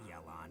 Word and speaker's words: Yelan: Also, I'm there sorry, can I've been be saying no her name wrong. Apparently, witnesses it's left Yelan, alive. not Yelan.